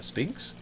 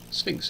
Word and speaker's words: Sphinx: the pyramids shall we there's Mr Speed uh Spinks Sphinx even say it right Mike now what you